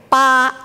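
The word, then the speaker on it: 八: as well eight sometimes we will say ba eight kind of rhymes with far to prosper but in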